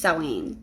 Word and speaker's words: Samhain: people call it Samhain but uh it is pronounced sewing so um that is when I feel closest